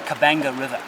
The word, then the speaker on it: Okavango: This is the Okavango River. Spelt with a B by the Portuguese, it's actually the Okavango River, and it and another